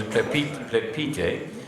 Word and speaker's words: Plepyte: correct pronunciation is Plepyte, and she is joining me here as we